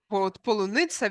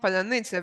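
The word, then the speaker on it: паляниця: After a number of Russians pronounce the word polunitsa, which means strawberry, instead of palanitsa, which means bread.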